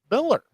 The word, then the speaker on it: Millar: I was gonna say, end of the day, Mark Millar, or Mark Miller, whatever you say his name. I've been going back and forth like all week. It's like I've been saying Millar for so long, but it's kind of one of those.